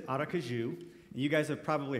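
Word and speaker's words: Aracaju: for their ministry in brazil and it says arakaju and you guys have probably heard that as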